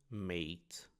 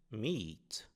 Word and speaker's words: meat: Nós não pronunciamos made como aqui em grates, mas sim meet, ou seja, um i alongado.